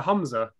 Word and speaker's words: Humza: you something brother hey how do I say your name so I say it right oh it's a Hamza Hamza got it in Micah